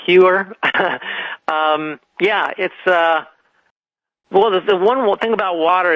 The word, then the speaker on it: Heuer: Before I go there, I just want to say my name is spelled Heuer, and it's pronounced Heuer.